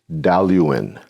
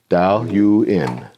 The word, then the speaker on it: Dailuaine: Dailuaine. Dailuaine. Dailuaine. Yes, just like it's spelled.